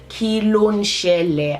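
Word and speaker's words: Kí ló ṣẹlẹ̀: So the first word I'm going to teach you today is kilo shele. I'm going to write it phonetically across the screen, not just how it's spelled, but how you pronounce it.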